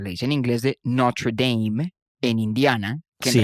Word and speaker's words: Notre Dame: Eso es como la muy famosa universidad, como se le dice en inglés, de Notre Dame, en Indiana, que Sí. en realidad es el francés Notre Dame.